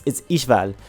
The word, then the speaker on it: Ishval: Specifically, there is a character named Ishval. I think that's how you pronounce her name. It's actually kind of exotic the way her name is. It's H-V-A-L, something like that. It's Ishval. That's how you say it.